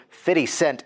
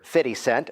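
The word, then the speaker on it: 50 Cent: you don't know who fitty cent is to pronounce it properly you are still laughing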